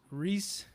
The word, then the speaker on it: Rhys: And again, it's making sorry to pronounce it right. It's Rhys, right?